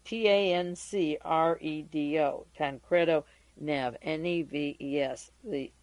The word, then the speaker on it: Tancredo: because I'm not sure that the well the pronunciation is Right t-a-n-c-r-e-d-o tancredo Nev n-e-v-e-s the S is silent and